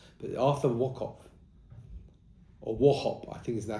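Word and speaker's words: Wauchope: Wokop. That's how they pronounce it. Now in Israel, you actually have streets called But Arthur or Warhop I think is now how you pronounce it.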